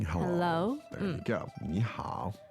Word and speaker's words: 你好: 你好.